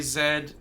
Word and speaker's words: Z: better for me apparently yes canadians do say zed uh no it's not it's twinkle twinkle little star true same same melody true fahrenheit is better for temperature and z is better than sorry z is better than zed i'll give you the